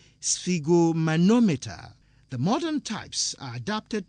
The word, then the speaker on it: sphygmomanometer: Don't worry about the spelling, it's just S-F-I-G. That is how it is pronounced. In reality, it is spelled S-P-H-Y-G-M-O, sphygmomanometer.